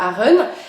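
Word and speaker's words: Aachen: donc qui est la Aron, qui s'écrit A-A-C-H-E-N, donc s'écrit Achen, mais ça se dit Aron.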